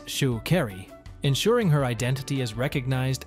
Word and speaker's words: Sha'Carri: Unapologetic attitude extends to correcting those who mispronounce her name it's Shu kry uring her identity is